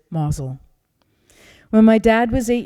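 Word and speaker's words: Mousehole: his hometown was a little fishing village in cornwall called mazel it's spelled mouse hole but the natives pronounce it mazel when my dad was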